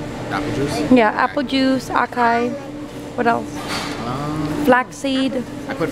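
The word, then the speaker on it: açaí: What's yours, acai? Is it acai or acia? Acia. I've always pronounced it acai.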